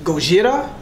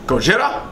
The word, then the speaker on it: Gojira: I don't know if it's pronounced Gojira, Gojira. Gojira?